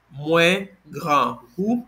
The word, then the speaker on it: Mwen grangou: You will say Mwen grangou. This is the full pronunciation, or you could say grangou.